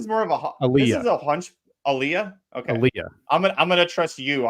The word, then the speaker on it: Aaliyah: one left I went with the five Princess Alia Alia I never knew how to say her